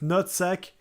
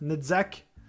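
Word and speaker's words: Netzach: I just know that uh there is a I always I always want to pronounce it nutsac but it's Nzac Netzak.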